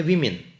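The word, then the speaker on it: women: बेटे, उसको बोलेंगे अलग, फिर हम इसको बोलेंगे वीमेन, इसको बोलेंगे वीमेन।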